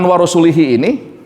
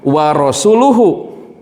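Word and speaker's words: وَرَسُولُهُ: Harusnya dibacanya warasuluhu. Nah perbedaan. Lihat ini menggunakan kasrah. Ini menggunakan dhammah.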